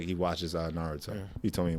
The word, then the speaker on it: Naruto: You said Norioto? Norioto, what's his name? Naruto. Naruto. That's what I'm saying. I mean, his name is pronounced Naruto, but then it's like some people hang up on the U.